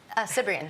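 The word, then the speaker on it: Cibrian: How do you pronounce his surname? Cyprian. It is Cyprian.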